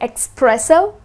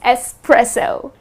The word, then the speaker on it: espresso: So the next time you are at a coffee shop, please don't end up saying espresso. The correct pronunciation is espresso.